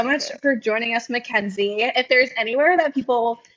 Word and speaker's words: Mackenzie: Mackenzie, which if you took German in high school, you'd think it's funny, but most people don't. But it's Machensie, which is not how my name is spelled.